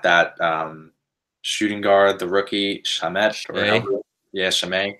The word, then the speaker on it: Shamet: How do you say his Shamet?